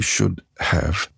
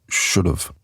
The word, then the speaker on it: should have: We don't say should have, we say should have. Right? The H is silent and the V is soft. It sounds like should of, like OF.